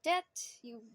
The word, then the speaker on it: debt: Okay, so the thing is called a debt. You pronounce it as a debt. The B is not...